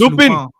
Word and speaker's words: Lupin: It's called Lupin. It's actually pronounced Lupin.